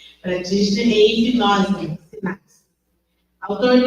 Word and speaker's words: Practitioner: da programação neurolinguística, PNL, é Master, Prautner, assim pronuncia, Practitioner em hipnose, sinapse.